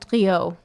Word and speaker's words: Condrieu: And like I said, the Condrieu is typically the, if I pronounce that right, I don't know if I did. Condrieu.